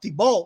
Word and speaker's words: Thibault: And Thibault, that's how you say his name. Thibault, like, he was reckless.